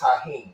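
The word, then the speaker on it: Tajín: Well, it's it's it's pronounced Taheen, but it's but it's T A J I.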